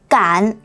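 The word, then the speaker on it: 干: Anh bạn Hán tự này có hai cách phát âm. Khi chúng ta phát âm là cản thành 4, nó có nghĩa là làm một việc gì đó. Còn khi chúng ta phát âm là can thành 1 thì nó có nghĩa là khô nhé.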